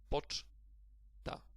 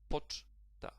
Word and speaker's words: poczta: And the stress falls also on the first syllable here. Definitely not on the last one. So it will be pronounced like poczta.